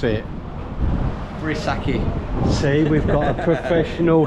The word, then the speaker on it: Vrissaki: Now, how would you pronounce it? Vrissaki.